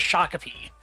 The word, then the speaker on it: Shakopee: That is Shakopee. So you pretty much had it. Most non-Minnesotans would call it Shakopee.